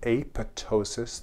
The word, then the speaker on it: apoptosis: in a process called apoptosis. The P is silent.